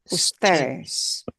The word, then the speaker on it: ustedes: Ustedes.